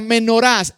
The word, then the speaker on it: menorá: Ilustración si él la menorás es el candelabro de siete brazos en en hebreo anótenlo menorá menorá con acento en la a como suena m e